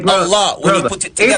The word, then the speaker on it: Allah: Hebrew, alif, lam, ha, which is actually pronounced as Allah. The alif is A, the lam is L, and the H is ha, which is Allah.